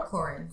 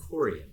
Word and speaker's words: Corian: Corian or Corin? Corian.